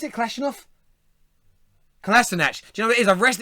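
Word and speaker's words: Kolašinac: Is that how you pronounce it? Kalashnikov? Kalasinac.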